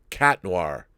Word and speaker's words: Chat Noir: by the way Rob the H in Chat Noir is a silent H so it's cat noir oh wow okay I